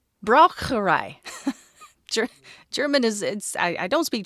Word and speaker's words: Braucherei: It is also known by another term, which I didn't necessarily pronounce incorrectly last time, but I sure American the heck out of it. Okay. Braucherei. It should be correct. Braucherei.